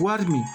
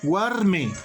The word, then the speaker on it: Warmi: Lo propio acá es Warmi, escrito y pronunciado también Warmi. No tengo por qué modificar y decir Warme. No, eso está mal. Se escribe Warmi y se pronuncia Warmi.